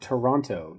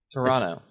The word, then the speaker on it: Toronto: It's not Toronto. You don't pronounce both T's. Toronto.